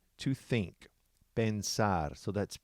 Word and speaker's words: pensar: in with it and this is a two syllable also the verb is pensar to think pensar so that's p e n s a r